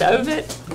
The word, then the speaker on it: Ovett: Ovett or Ovett? It's Ovett.